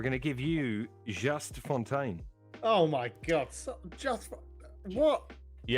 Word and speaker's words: Fontaine: Cultured Leffert, we're going to give you Just Fontaine. Oh my god! What? You have to say it with a French accent. I'll try. All right. Just Just Fontaine.